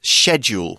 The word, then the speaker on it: schedule: which I will say in the UK often gets pronounced as schedule with a sort of soft SC sound they're both okay but you'll probably be more used to saying schedule a schedule is a